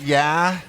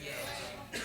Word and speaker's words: Ye: Is it Yeah? It's just yay. I said it wrong last service too. It's Yay.